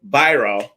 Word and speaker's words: Biro: His name is Brian Biro.